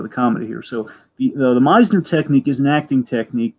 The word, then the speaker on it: Meisner: Importantly, Meisner is the correct pronunciation, Dragon.